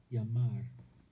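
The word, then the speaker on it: llamar: in spanish is jamar yamar this double l always gets pronounced as a y in spanish so you can imagine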